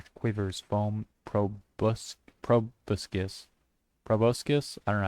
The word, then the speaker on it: proboscis: Foam Fiend, High Soft Ass / Quivers, Foam Proboscis. Proboscis? I don't know how to pronounce it.